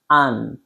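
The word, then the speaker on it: aren't: ই এনটি এইযে এটা এ আরই এনটি উচ্চারণটা কি হবে আন্ আন্ আন্ ইয়েস try pronounce with me আন্ আন্ এটা আরন্ হবে না উচ্চারণ হবে আন্ তাহলে আমরা বুঝতে পারলাম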